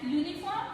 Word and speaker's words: uniform: In words such as uniform and university, the letters U is pronounced as YU. ये जो यूनिफॉर्म और university, ये जो letter word है, ये यू लेटर से स्टार्ट हो रहे हैं, वॉवल लेटर से स्टार्ट हो रहे हैं, लेकिन उसका जो प्रोनाउंसिएशन है, जब हम उसे प्रोनाउंस कर रहे हैं तो उसका जो साउंड आता है वो कैसे आता है?